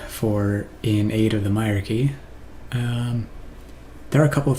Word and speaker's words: Hierarchy: And here comes, hopefully, the end of In Search of the Hierarchy, which is how you pronounce that, by the way, since nobody seems to know how to.